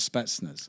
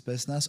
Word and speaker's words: Spetsnaz: you train with the Russian, I get the pronunciation right, Spetsnaz. Spetsnaz, yeah.